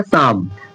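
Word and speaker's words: psalm: अब यहां देखिए पी के बाद एस यानी एस से पहले पी है ना? एंड एस से पूर्व यानी पहले पी है ना? तो यहां पी है ना तो ये पी साइलेंट हो जाएगा। तो इसे क्या पढ़ा जाएगा? साम।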